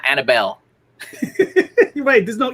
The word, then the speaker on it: Anibal: pronounce it incorrectly okay there's two two versions um a lot of people i grew up with call me annabel and it's it's very similar to hannibal like hannibal lecter hannibal the conqueror but